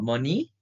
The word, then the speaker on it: Mony: The application name is called Mony as it rhymes with money.